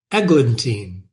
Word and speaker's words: Eglantine: was often known as Madame Eglantine, to rhyme with divine.